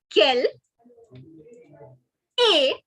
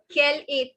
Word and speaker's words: quelle est: So what is your nationality in French is quelle est ta nationalité. All right. Quelle est, the ST is silent. Ta, which means your. Quelle est ta nationalité.